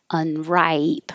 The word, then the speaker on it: unripe: not ready to eat unripe the vowel is i if it's ripe